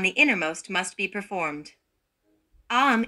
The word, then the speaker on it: Aum: Aum is pronounced by opening the mouth very well with the vowel A, rounding it with the U and closing it with the M.